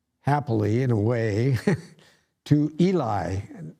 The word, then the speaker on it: Eli: in a way to eli now that's how we pronounce it by my pronunciation guide i would think it'd be a lee but what do i know so eli hears